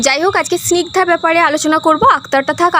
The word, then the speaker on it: স্নিগ্ধা: মানে দল অর্থাৎ এইযে এই নামটার ব্যাপারে করি যে স্নিগধা এখানে স্নিগ স্নিক যুক্ত ধা স্নিক যুক্ত ধা